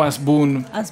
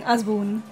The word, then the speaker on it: Hasbún: I mean, in Spanish, we don't pronounce the H, so it's Rodrigo Hasbun. But I live in the U.S. and they pronounce it like Hasbun.